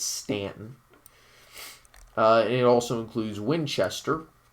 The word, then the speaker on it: Staunton: district which includes charlottesville shenandoah national park harrisonburg stanton by the way that is pronounced correctly it is stanton not staunton it's stanton uh it also includes winchester and there's a